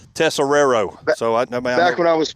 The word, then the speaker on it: Tesoriera: the last name field tessero there it is all right yeah buddy appreciate that I I actually cheated I put accents over the first s and over the second tessero so back when I